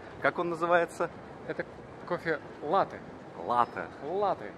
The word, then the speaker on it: латте: Это кофе латте. Латте. Латте. Там с ударением на первом слове.